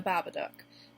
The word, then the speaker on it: Babadook: movie the babadook and I know I've heard a lot of people pronounce that name a lot of different ways but since that's how the characters in the movie pronounce it I'm going to be calling it the babadook sorry if that displeases